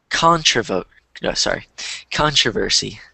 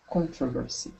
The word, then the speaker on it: controversy: this word before, and there are two different pronunciations. The way that you pronounced it is one way to pronounce it, and the way that I pronounce it is another way. I'm not sure how it, like, if it's depending on the region or the dialect, but I say controversy, but you could also say controversy.